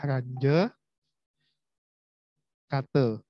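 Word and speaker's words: Runge–Kutta: Jadi bacanya adalah range kata.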